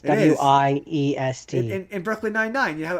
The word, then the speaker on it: Wiest: I don't even know if that's how that name is pronounced. It's It is. Wiest.